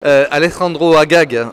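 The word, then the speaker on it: Alejandro Agag: Alexandro Agag c'est comme ça qu'on prononce merci beaucoup de de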